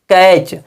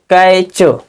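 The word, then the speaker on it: catch: बाद टी के बाद च लिखा हो तो टी का उच्चारण नहीं होगा यदि टी के बाद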